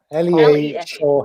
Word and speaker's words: Lee Shaw: My Insta is at Lee Shaw Hair. It's Lee as it's spelled on the screen. SHAW. Lea Shaw Hair.